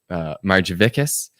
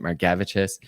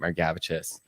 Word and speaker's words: Margevicius: All of my family pronounces my last name Margevicius, and I met a Lithuanian several years ago, and they told me that they pronounce it Margevicius, and so I've started pronouncing it Margevicius.